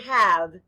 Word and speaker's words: have: h a v e in this word the letter a stands for the short a sound a the letter e is silent blend with me now sky write the word have h a v e